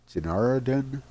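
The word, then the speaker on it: Genoharadan: I think it's Genaradan. Genaradan? It's not General Haradan, it's Genaradan, I believe.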